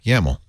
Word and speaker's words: YAML: Yeah, YAML.